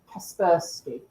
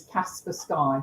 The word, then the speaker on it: Kaspersky: security and antivirus company Kaspersky which I did genuinely think was Kasper sky for a long while I actually think it's Kaspersky is headquartered in which